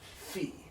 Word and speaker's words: pi: Pi. P. Rho. Rho. Sigma. Sigma. Tau. Tau. Upsilon. Upsilon. Phi. Phi. Chi. Chi. Psi. Psi. Omega. Omega. So it's not pi, it's p.